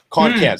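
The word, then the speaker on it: Kon Kan: hit was called i beg your pardon and it's spelled k-o-n-k-a-n can-con con can't sorry con can i i'm you probably heard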